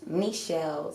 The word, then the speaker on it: Nichelle: It's dot Nichelle, spelled like Michelle, but with an N.